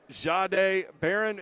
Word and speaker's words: Jahdae Barron: So, Jahdae Barron, it's with a J. Am I pronouncing it correctly? Yes, sir.